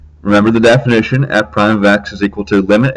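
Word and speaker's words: f′(x): line the statement on the left which is f prime of x is what's called the derivative of f and is pronounced as i just said f prime of x this isn't the only notation we'll see if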